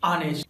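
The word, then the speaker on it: honest: इसके अलावा कुछ और वर्ड्स हैं जहां पर एच साइलेंट होता है, जैसे आर ऑनेस्ट ऑनर।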